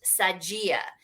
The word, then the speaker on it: Sadia: Well, it's so funny because written in Portuguese with no accent, my name is pronounced Sadia, and it's the Oscar Mayer of Brazil.